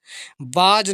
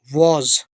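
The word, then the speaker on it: was: बाज नहीं, कई लोग ऐसे बोलते बाज, गलत है ये, वॉज।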